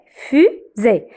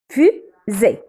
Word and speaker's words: fusée: Alors, fusée. Alors, ici, petit rappel. Le S, quand il vient entre deux voyelles, le U c'est voyelle, le E c'est voyelle, alors je le prononce Z. Alors, fusée.